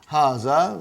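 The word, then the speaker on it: هذا: erase it double ha ha see it is pronounced like ha ha huh but this Aleph is not written it is explaining the key also so it is hase ok haza means this and baton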